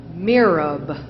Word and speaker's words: mihrab: Mirab. Are there any alternate pronunciations? No, there are not. It is a word from Arabic. It is pronounced mirab.